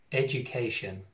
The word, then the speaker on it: education: โอเค Education นะครับมันไม่ได้ออกเสียง ed ดูโดยตรงนะ Education.